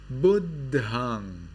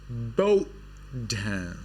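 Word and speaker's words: Buddhaṃ: In the Sri Lankan pronunciation, this is Buddhang. But in Burmese, it is Bodhan.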